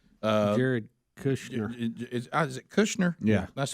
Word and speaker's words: Kushner: Kushner. Uh Jared Kushner.